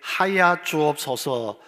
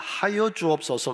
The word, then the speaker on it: 하여: 원로 목사님은 기도하실 때에 하야 주옵소서 하십니다 하여 주옵소서 아니고 하야 주옵소서 그러니까 장로님들 교인들도 기도할